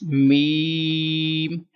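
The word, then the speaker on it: ميم: Next is meme, and don't take sound into nose and don't pronounce meme. Meme. This is wrong.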